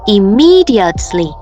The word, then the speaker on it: immediately: Vậy nên E này cũng được đọc là I. Và chúng ta sẽ có từ là immediately.